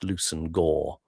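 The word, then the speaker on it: Leveson-Gower: The name Levison Gower is pronounced Lucen Gore.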